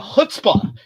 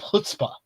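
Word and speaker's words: chutzpah: to have one each time so it's uh hutzpah is what uh Joel was saying I have hutzpah hutzpah thank you thank you our producer uh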